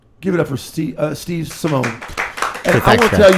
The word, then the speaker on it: Simeone: Simone. Okay, because I've talked to some people about you. Yep. And they threw like an E at the end. Oh, that's Yeah, they did a Simeone, right?